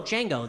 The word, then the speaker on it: Django: I'd be like, oh, Django, the D is silent, like in the movie.